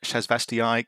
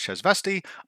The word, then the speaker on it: Shasvastii: to is called the shz vasti Continuum and pronouncing it shasvastii Continuum just felt more satisfying however listening to the game creators pronounce the word it's obvious that it's pronounced chz vasti I am going to continue to get it